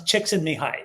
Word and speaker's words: Csikszentmihalyi: It's Csikszentmihalyi is how I'll say it.